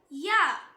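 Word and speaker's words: ياء: Next letter யா யா. இது same like ஜீம் and Sheen. நாக்கோட நடுப்பகுதி மேல் முரசை டச் பண்ணும்போது ப்ரொனவுன்ஸ் பண்ணணும்.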